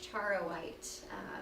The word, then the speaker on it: charoite: Well, it's, I believe, pronounced charoite. It's got an unusual spelling, so Like not- charro? Yeah. Like in Spanish, Yeah. charro? Yeah, I yeah. speak Spanish, by the way. Yeah, yeah. Charro white? Okay.